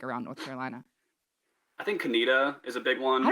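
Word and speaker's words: Conetoe: So, what are the most mispronounced towns that you think around North Carolina? I think Canita is a big one.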